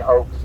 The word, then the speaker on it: Ochs: And the Ox family, they're pretty prominent. But they say Oaks, I understand, in New York.